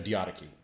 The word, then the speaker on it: Diadochi: The Diadochi.